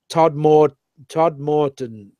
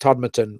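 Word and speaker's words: Todmorden: They've got a website, and I can see, Todd Morton, yeah. But it's pronounced Todmerton, right?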